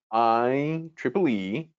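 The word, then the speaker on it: IEEE: of electronic electrical and electronics engineer and it's pronounced iple e and asked them to help us create a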